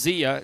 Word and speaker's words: Zia: And I mentioned that because Eric Cox's mother treated us the Zia, I believe it's pronounced Zia, Z-I-A, Zia Mountain Treats.